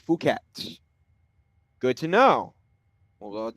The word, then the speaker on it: Phuket: Blend listener um with the pronunciation. Fuket. F O K. Fuket.